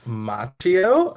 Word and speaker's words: Machio: say your last name last name pronunciation is machio um we should probably